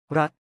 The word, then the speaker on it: รัฐ: รัฐ รัฐ 낫처럼 발음.